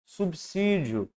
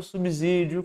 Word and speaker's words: subsídio: letra é a correta pronunciamos subsídio e não subsídio como muitas vezes a gente vive por aí subsídio porque temos uma consoante antes daqueles então ele vai ficar